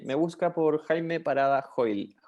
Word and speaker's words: Hoyl: Sí, me busca por Jaime Parada Hoyle. Hoyle se escribe Hoyl, como hoy con una L, y ahí estoy en todas las redes sociales.